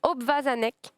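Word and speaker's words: obwarzanek: Ça se prononce obvazanek.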